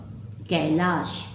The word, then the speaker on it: कैलाश: कै, क में ए कै, ल में आ ला, श, इसका उच्चारण होता है श, स नहीं श, कैलाश हो गया ए की मात्रा।